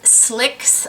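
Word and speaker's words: Slique: can get this, but the Troy Surratt Lip Slicks, I believe is how you pronounce it.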